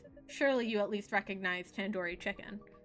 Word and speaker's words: tandoori: least recognized tandoori chicken you're saying it wrong wait really Tandoori Tandoori well I've been saying it wrong the do isn't like door it's like doo-doo head are you five years old you can't just say like do as in due date can do re Tandoori I